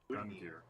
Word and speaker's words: Gungnir: Gungnir. Yeah, the second G is soft.